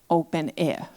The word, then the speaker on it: openEHR: Open air. We simply say open air because it is easier to pronounce.